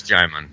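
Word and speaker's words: Djimon: Yeah, it's Jimon.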